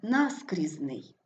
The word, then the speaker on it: наскрізний: наголошений другий склад окрім Отже вимовляємо близький виразний але наскрізний корисний Отже правильна відповідь наскрізний тому що ми шукали слово окрім де наголос не падає на другий склад